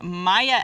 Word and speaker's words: Maya: All right, well, the next segment we're going to get to is a question from Maya S. I think I'm pronouncing that right.